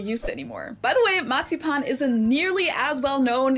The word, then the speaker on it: Marzipan: Matsipan. That's how we say it in German. Matsipan. In English, it's usually pronounced marzipan, but the word is the same.